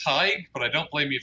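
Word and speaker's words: Tadhg: do I call you tad hello can you hear me yes I can hear you awesome well my name is pronounced tight but I don't blame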